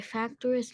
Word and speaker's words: fractious: how do we pronounce the IOUS? How do you pronounce this word? Cautious. Cautious. Fractious.